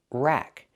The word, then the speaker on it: rack: Pronunciation, rack. Use the short A sound like black cat.